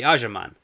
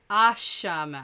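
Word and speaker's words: Asha'man: The Ajaman. No. Ashaman. Ashaman. Yeah.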